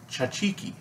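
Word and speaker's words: tzatziki: layer to pronounce was chachi ki which is the Greek pronunciation that's a key is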